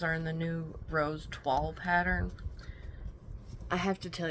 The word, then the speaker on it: toile: The word toile, right? T-O-I-L-E. It's pronounced toile. But it looks like it should be pronounced like toil with a silent E.